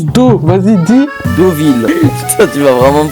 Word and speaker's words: Deauville: Non, ça se prononce O comme l'eau, comme l'eau, comme l'eau. Ah moi je le prononçais EAU. Ah bah, prononce Do. Vas-y, dis. Deauville.